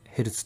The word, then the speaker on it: ヘルツ: ヘルツを指しますヘルツというのは a 1 z と書いてヘルツと呼びますこの f という